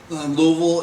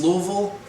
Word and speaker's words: Louisville: Louisville is how you pronounce Louisville or Louisville or however other people pronounce it. In Kentucky, it's Louisville. So hopefully everybody will say if I said that right, Louisville.